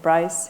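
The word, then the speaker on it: Braess: You called it's B-R-A-E-S-S, how do you say it? It's actually a friend of mine. He's a German mathematician, Dietrich Bryce.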